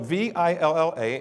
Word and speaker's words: Villa: joy Villa calm has got everything joy Philip VI L LA and it's pronounced Villa now I read that when I